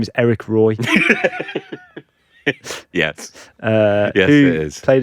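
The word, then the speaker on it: Éric Roy: But it's actually Roy, isn't it? Yes. Eric Roy. That's how they say it. Eric Roy.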